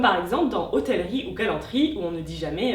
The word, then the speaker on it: galanterie: Et des mots comme galanterie et hôtellerie devront toujours se prononcer entièrement et compteront toujours comme quatre syllabes.